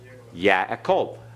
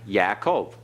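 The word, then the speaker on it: יַעֲקֹב: Remember the yod is a Y sound. Patak, a. So the first is ya. Yaakov. Right. Yaakov. Jacob. It's the Hebrew for Jacob. Yaakov. All right? Now, when you pronounce that, notice you have the in there, Yaakov, because it is a compound schwa.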